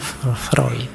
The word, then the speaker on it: Freud: yang terkenal dengan psyoanalisisnya tulisannya Freud bacanya freid Awas keliru cara bacanya tapi ya ndak apa-apal cuma salah mengecekkan ndak apa-apa Kalau kalian terbiasa Freud ya ndak apa-apa sama seperti Rene